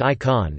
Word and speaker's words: ICAN: The International Campaign to Abolish Nuclear Weapons, abbreviated to ICAN, pronounced ICON, is a global civil